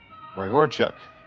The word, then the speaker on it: Ray Horchuk: Ray Horchuk. That's how we say it.